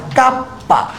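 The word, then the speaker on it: kappa: আর চুম্বক প্রবণতাকে আমি কে দিয়ে প্রকাশ করব, বাট এর আসল উচ্চারণ হচ্ছে কাপ্পা।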